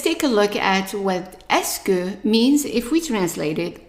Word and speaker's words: est-ce que: So all of these 5 letters combined are pronounced S. S. And then the next one here, the U is silent, is que. Que. Because the E in French is pronounced E when it's attached to only one sound.